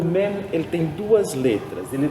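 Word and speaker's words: מם: Mem é uma letra labial, você pronuncia ela nos lábios, Mem. É uma letra fechada, é um som fechado, Mem. Nunca tem o som de En, né?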